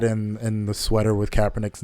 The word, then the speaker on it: Kaepernick: like he was wearing the coppernick sweater Kaepernick Kaepernick sorry for the mispronunciation and the make America